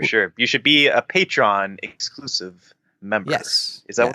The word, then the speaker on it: Patreon: you should do in the situation just over pronounce it patreon oh that's what I've been doing this whole